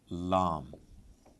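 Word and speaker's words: لام: And then you are, come to, thankfully, simpler letter Lam. I say simpler because it's just L, and Lam, double A or A with a cap.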